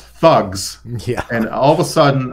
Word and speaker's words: THUGS: It's pronounced thugs.